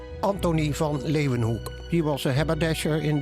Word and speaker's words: Leeuwenhoek: has ever seen before l-a-y lay ooh then they pronounce it with a v hook lay of an hook anthony van leeuwenhoek he was a haberdasher